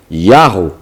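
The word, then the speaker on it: יהו: Esses nomes sugerem que a forma curta do nome divino se pronunciava Yahu, ou Yahu.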